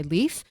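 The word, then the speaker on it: Leif: God life wasn't it what's that yeah called Leaf called Leaf yeah what's that who oh here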